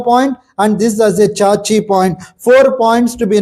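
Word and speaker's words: Xiaxi: i a x i that's pronunciation is chachi but the writing is casc x i a x i half tune proximal to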